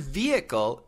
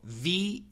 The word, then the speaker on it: vehicle: Now, the word vehicle, V-E-H-I-C-L-E, some people do say vehicle because there's an H, but most Americans will say vehicle with a silent H.